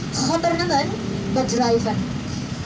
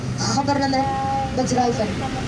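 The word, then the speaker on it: Gouvernements Bedrijven: Gouvernement Bedrijven. Padahal tulisannya hanya Government Bedrijven ya Bapak Ibu, tapi karena pelafalannya orang Belanda itu huruf GKH tulisannya, jadi saya bacanya harus pakai kokolah. Government Bedrijven.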